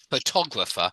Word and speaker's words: photograph: person for the person and the stress moves to the or photographer even though we do say photograph so the in photograph the stress is on the very first o it's photograph yeah photograph but photographer yeah so the ination changes